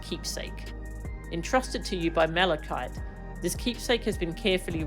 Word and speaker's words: Malachite: Is it pronounced Malikite or Malachite? Malikite. going to chat. Yeah, this this this is a lot of Dawn Trail is about grief sadly. Well, like it's it's a good important theme. It's just it's rough for when you're going through it yourself. I'm sorry. I'm googling the word Malikite. Pronounce Malachite. Malikite. Okay, I am pronouncing it correctly.